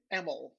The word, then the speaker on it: Emil: So the name is pronounced Emil. That was okay. So I'm right. Yep. Thank you. Not Emil or Emil. It's no. Emil. Oh, yep.